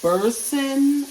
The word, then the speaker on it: Boursin: It's Boursin, I guess is how you pronounce it, Boursin.